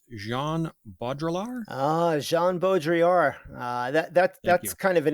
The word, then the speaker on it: Jean Baudrillard: How do you pronounce Jean Baudrillard? Jean Baudrillard.